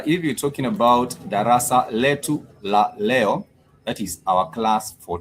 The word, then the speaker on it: leo: In case you're joining us I would say I said Leo you do say Leo as spelled like you'd have it spelled as Leo.